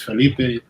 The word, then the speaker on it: Felipe: Yeah, Felipe is fine.